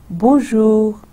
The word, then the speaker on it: bonjour: Ab isko main aisa dohrati hu aur isko hum do syllables mein divide karte hain. Bon. Dekhiye bon. Bon, ye first part ho gaya. Bone. اب آپ دیکھیں کہ یہ نون غنہ, میں این کو پورا نہیں پروناؤنس کرتی, وہ نیزل رہتا ہے.